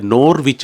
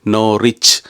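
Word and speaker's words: Norwich: உச்சரிக்கணும் போல கிடக்குன்னு நினைச்சுட்டு அதை நோர்விச் என்று வாசிச்சா அங்க இருக்கிற ஆட்கள் சொல்லிக்கணும் அது நோர்விச் எல்லாம் கிடையாது நோ ரிச் அதுலயும் வந்து w உச்சரிக்க கூடாதுன்னு சொல்லி இப்ப சொல்லுங்க பிரித்தானியாவில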